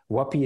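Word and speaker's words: Huapii: what we stand for wapi is not easy to spell it's h u a p i i so one p two i's yeah that's wapi uh there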